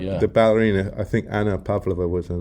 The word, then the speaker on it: Pavlova: I've I've heard this crazy/silly rumor that there's a thing called the Pavlova or something like that or which actually just for historic should be pronounced Pavlova but never never mind these things.